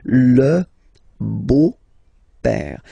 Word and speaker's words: beau-père: So, père, okay, father, so father-in-law, okay, in French it's le beau-père, the beautiful father, le beau-père. So remember this E-A-U combination of vowels only give you the sound O, beau, okay?